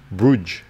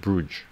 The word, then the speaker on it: Bruges: it's gone it's pronounced bruges brush brush brute valiants bruce bruce i'm going to pronounce it bruce bruges i'm going to pronounce that bruges oh like moulin rouge but with a b know how to say